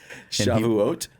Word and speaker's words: Shavuot: Shavuot?